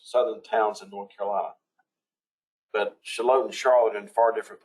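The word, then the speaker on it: Shallotte: heard me say before shalot and charlotte are spelled similarly and pronounced similarly in both southern borders southern towns in north carolina shalott and charlotte in far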